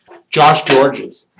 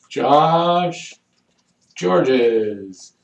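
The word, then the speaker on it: Gorges: Josh Georges. Josh Georges. It's not spelt Georges, it's spelled like gorgeous, but it's Josh Georges.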